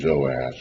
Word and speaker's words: Joash: But to make it simpler, we're calling the northern king Jehoash with 3 syllables, and the southern king Joash with 2.